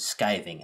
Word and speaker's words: skiving: in leather working is skiving i've heard it pronounced skivving as well i don't get too hung up on that particular which way is correct because it's basically describing